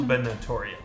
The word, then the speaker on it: gubernatorial: gorial is that the word for governor election gubernatorial gubernatorial thank you woman charge of pronunciations in this that mayor Bracken Haven braen